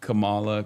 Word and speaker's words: Kamala: That is how you say Kamala.